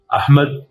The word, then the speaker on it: احمد: جیسا کہ میں پہلے بھی بتا چکا ہوں، احمد عربی لفظ ہے اور الف پر زبر ہے لیکن اردو والے اسے احمد بولتے ہیں.